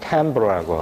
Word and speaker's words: timbre: I로 쓰지만 발음은 timbre라고 하는데 이것은 저런 실제 스트링이나